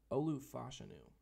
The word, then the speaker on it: Olu Fashanu: I thought I thought Olu Olu fashanu is how it's pronounced by the way if you didn't know that I thought him and